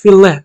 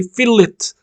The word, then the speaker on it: fillet: fil but when you actually it's filet okay but we as Architects or Engineers we try to say fill it but f as through